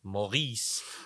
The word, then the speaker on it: Maurice: they spell Morris in England so it's always Morris the answer is always Morris but we bizarrely some people have started taking that Maurice French pronunciation like yeah Maurice's uh Morris was